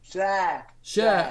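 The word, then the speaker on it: Schär: So that, and then Shah, Fabian Shah, is that how you pronounce it? Shah.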